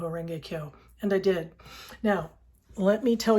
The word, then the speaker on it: Kyo: Renge, Renge, Kyo.